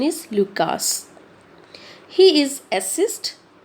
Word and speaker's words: Lucas: Lucas? Sometimes it is also pronounced as Luca, but the American and British pronunciation is Lucas.